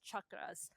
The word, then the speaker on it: chakras: So Chuck Norris, like that's how you pronounce chakras.